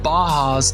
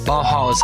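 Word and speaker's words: Bauhaus: Baja's technology pardon me Baja's ideology little bit of mispronunciation this was the father of industrial design simple forms coming from the bajas that's b a h a u s then becoming more contemporary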